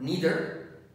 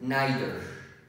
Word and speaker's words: neither: Some people pronounce this word neither, and other people pronounce it neither. So the two forms are correct, neither and neither.